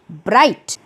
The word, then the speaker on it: bright: वैसे ही ब्राइट, BRIGHT, इसमें GH sound silent है।